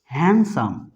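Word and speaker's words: handsome: হ্যান্ডসাম, কিন্তু ডি কি থাকবে? সাইলেন্ট থাকবে। এর উচ্চারণটা কি হবে? হ্যান্ডসাম।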